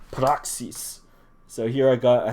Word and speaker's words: Praxis: Apostles or Acts um the Greek word for that is uh you say it like proxies so here I got